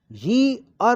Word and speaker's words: year: A uniform में आया है ये, ए ईयर, इसका सही उच्चारण यी-अर होता है। यी के छोटी की मात्रा और अर, ईयर, YEAR, ईयर होता है। अतः साउंड आया है ये, न कि ई। अगर हम इसको ईयर बोलेंगे तो गलत होगा